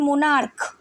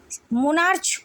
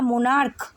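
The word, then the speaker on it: monarch: অর্থাৎ সিএইচ যদি কে এর মতো করে প্রনাউন্সিয়েশন করি আমরা, যেমন মোনার্ক, এখানে সিএইচ কিন্তু আমরা মোনার্চ বলে কিছু হয় না, মোনার্ক বলে হয়।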